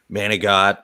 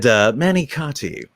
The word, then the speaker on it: manicotti: No, I had my Italian side totally did like manigot and all that stuff, and Thank you then for pronouncing it properly.